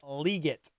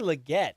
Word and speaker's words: Legette: to say his name he called him Xavier liot Xavier liot it's Xavier Legette that's hilarious Jonathan Glenn